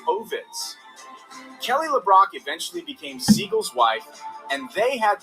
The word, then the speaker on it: Seagal: I do like, by the way, that this guy says Seagal, which is great because that's how his name is actually pronounced, not Seagal. It should be Seagal, Steven Seagal, like Katie Seagal.